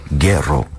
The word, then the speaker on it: Guero: It's going to be called Guero, right? I Yeah. think the correct pronunciation is Guero. Yeah. And apparently that's Spanish slang for white boy.